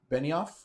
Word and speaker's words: Benioff: Weiss and David Benioff, I think is how you say it.